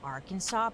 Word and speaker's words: Arkansas: Why do we pronounce it Arkansas? Because it's like our Kansas.